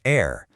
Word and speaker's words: heir: weird thing in common, a silent H. First up is heir.